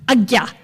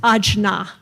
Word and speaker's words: Ajna: And that's pronounced agya. It's not pronounced ajna, okay?